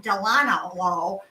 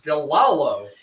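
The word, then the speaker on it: DeLallo: marinara, but I discovered something by Delano, how do you pronounce that? Delalo.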